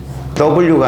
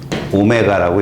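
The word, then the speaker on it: ω: w가 아니라 오메가라고 읽습니다.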